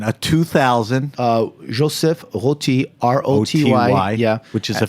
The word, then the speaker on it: Roty: You have a good French pronunciation. Okay. A 2000. Joseph Roty, R-O-T-Y.